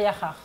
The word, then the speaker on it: Yakhar: Les mesures barrières mises à rude épreuve à Yakhar. J'ai bien prononcé le Wolof, c'était bon? Yakhar. Oui ou non? Oui, c'est bon. Ah. Noëlla, dis-lui que c'est bon mon Wolof. Ah, c'est bon, t'as bien prononcé.